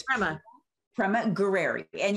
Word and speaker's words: Gurreri: and it's pra Prema gueri and you just can't be afraid of the RS because it's very Italian gueri gerer gerer gerer